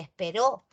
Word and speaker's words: esperó: Una se pronuncia espero y la otra se pronuncia esperó.